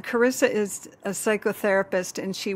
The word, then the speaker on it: Carissa: welcome Carissa journey yeah that's how you pronounce it yep Carissa lovely Thank You Joanie I'm so excited to